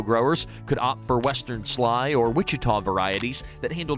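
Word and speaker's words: Schley: them perfect for candied pecans and desserts the sly pecan that's s c hle e y pecan pronounced Sly still is often called the paper shell because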